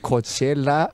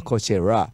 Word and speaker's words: Coachella: I had to make sure I don't pronounce R. It should be L at the end, right?